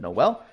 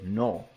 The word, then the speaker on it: Noel: All right, I pronounced it wrong in my last video. I said Noel. It is Noel.